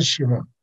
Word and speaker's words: Simeón: Obviamente, y a su padre, que casi no figuró, Simeón, pues bueno, sí, se pronuncia Simón, no, pues no figuró, ¿verdad?